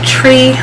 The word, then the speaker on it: Twi: I took I always say it wrong, a tree language class, TWI, not tree like tree, but a tree language class.